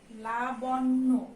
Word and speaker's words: লাবণ্য: আমরা এটা উচ্চারণ করি কি লাবণ্য, এখানে তাই দিয়ে আছে, এটার উচ্চারণ হচ্ছে আমাদের লাবণ্য। জফলার জন্য নয় ডাবল উচ্চারণ হবে লা বন, এই পর্যন্ত একটা উচ্চারণ, নয় ওকারে নো, ঠিক আছে, লাবণ্য।